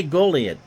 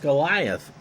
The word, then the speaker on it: Goliat: fills and here's my i'm gonna say goliad almost goliath but there's no h at the end anyway he's hitting 273